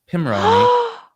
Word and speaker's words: Pimoroni: actually corrected and told that it's Pimoroni, even though it doesn't make any sense. Like there's 10 reasons why it should be Pi.